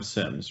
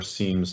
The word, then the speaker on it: SIEM: And we've had for the longest time SIMS, right? Or SIEMS, depending on how you like to pronounce it, which is really a broad view, take in all the logs, et cetera.